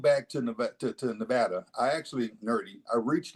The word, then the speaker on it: Nevada: first thing I did when I moved to Nevada by the way I come from aate where pronunciation matters it's Nevada not Nevada Nevada you